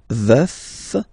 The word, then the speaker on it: veuf: Je suis veuf, veuf, so remember to pronounce the final F, veuf.